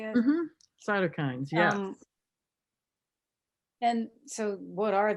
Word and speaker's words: cytokines: Cytokines, yes.